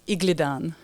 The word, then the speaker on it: Igledon: last name again my my last name is Igan yeah I feel like I say it wrong